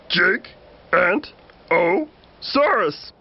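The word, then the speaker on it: Giganotosaurus: You say my name like this, Gigantosaurus. It means giant southern lizard.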